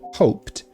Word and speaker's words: hoped: Hoped. Repare que eu não pronuncio o D. Se você olhar no alfabeto fonético também, você vai ter aqui no final, quando conjugado no passado, o desenho de um T.